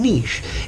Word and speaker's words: niche: you do let's see Anish notice the pronunciation and niche is a small home